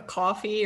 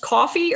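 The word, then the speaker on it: Ko-fi: i can't i i i've never known if it's pronounced coffee or kofi because it's k-o-f-i coffee because it's it's like that they always say oh buy me a cup of coffee okay but i my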